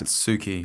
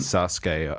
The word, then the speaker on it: Satsuki: It's like it's spelled like Satsuki, but I'm not sure. It sounds Satsuki. Yeah, I'm not sure. They pronounce it kind of different. Sasuke. I'm not sure. I've watched too much anime now to understand. I want to say Satsuki. Yeah, I think it's Satsuki.